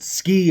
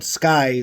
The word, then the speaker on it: SCCY: And I've seen some people pronounce it Ski or S. They didn't really know how to pronounce it, but that real pronouncement is called Sccy, like SKY.